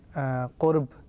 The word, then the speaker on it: قرب: جس طرح انہوں نے قرب کو کرب بولا, جی جی بالکل, اور سیاح کو سیاح بولا.